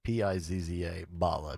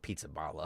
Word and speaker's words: Pizzaballa: P-I-Z-Z-A, Balla, B-A-L-L-A. I'm sure you don't pronounce it Pizzaballa. Of course not. Pizzaballa.